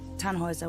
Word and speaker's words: Tannhauser: what's your name Tannhauser we pronounce it tan Wazza with an umlaut German roots yes my